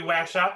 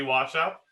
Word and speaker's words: waSCC: we're gonna have to boot you for that pronunciation you're just gonna have to find a different zoom it's not gonna be whack shot it's gonna be washout okay well we can argue about that later